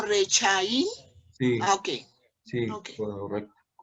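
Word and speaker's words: רשעים: Cuando va en la primera letra, esta se lee como E, ¿sí? Por eso leemos re, ¿vale? Pero, como te digo, hay varias reglas. Entonces se dice ahí Rechaín. Reshaim, sí señora. Entonces, Ahí no se leería Rachaín, sino Rechaín.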